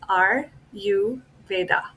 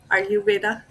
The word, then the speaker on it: Ayurveda: to pronounce it is r u Veda as in I am Veda are you Veda are you Veda there